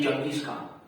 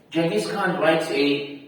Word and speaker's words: Genghis Khan: Genghis Khan, or as some people mispronounce his name, Genghis Khan. Right? It's actually Genghis Khan.